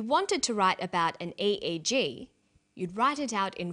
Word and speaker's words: EEG: or an acronym an EEG brain scan helps answer that say the swinburne researchers he says an EEG that's an abbreviation we don't pronounce it egg we say e e g e EEG stands for